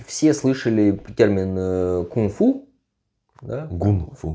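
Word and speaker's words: 功夫: этими гуни китаевед да Значит правильно говорить гунфу во-первых ударение в другом месте А во-вторых через г мастерство переводится гунфу переводится мастерство гун работа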